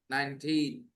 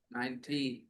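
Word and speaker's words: nineteen: When you say 19, just stress the last part a little more. Stress the last part a little more. 19. Got it. That's how you say it. Stress the second part. 19.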